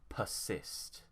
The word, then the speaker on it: persist: Here the stress is on cyst, so we'd say persist.